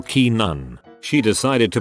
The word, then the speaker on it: Canaan: not in the know it's pronounced Keenan or Keenan she decided to pronounce it Canon Canon not only is she